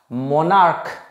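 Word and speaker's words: monarch: দেখো সিএইচ এর দু রকমের প্রোনাউন্সিয়েশন হয়, একটা হচ্ছে সফট প্রোনাউন্সিয়েশন, একটা হচ্ছে হার্ড প্রোনাউন্সিয়েশন। মানে বাংলায় বলছি, সফট মানে হচ্ছে সিএইচ এ চ হবে আর হার্ড মানে সিএইচ এ ক হবে।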